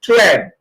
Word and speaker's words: tread: The last one is tread. Short E as in eh.